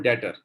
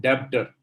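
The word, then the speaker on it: debtor: सामान ले जाता है, is called डेटर, नॉट डेब्टर। B silent होता है।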